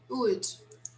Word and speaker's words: would: It's simply would. Okay, guys, don't try to pronounce the letter L.